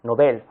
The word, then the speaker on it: Nobel: informaciones primero cómo se pronuncia esta palabra se pronuncia como si fuera aguda nobel ojo ahí está recreando la pronunciación no la